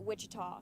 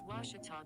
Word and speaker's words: Ouachita: at a baptist university back in texas everybody pronounces it wichita but really it's ouachita washington washington how would you pronounce it it's washita baptist university get it right it's watertall people